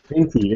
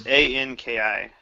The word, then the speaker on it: Anki: Okay, Enki. Is it just spelled like this, or is it? It's Anki.